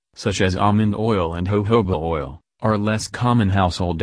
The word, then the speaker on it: jojoba: Jojoba oil, pronounced jojoba, it is derived from seeds but classified as a liquid.